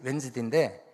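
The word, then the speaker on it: Wednesday: 왜냐하면 묵음 D가 있어서 N 앞인지 N 뒤인지 잘 몰라요. W-E-D-N-E-S-T-A-Y 이렇게 웬즈데인데 이 D 때문에 헷갈리는 거였어요.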